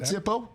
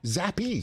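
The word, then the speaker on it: Zappe: wow no no no not Zippo zappy zappy that's why I Zapp I said it wrong come on M I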